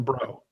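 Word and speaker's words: Breaux: this whole thing because his name is spelled br e Au X MH so we would just say come on bro and became like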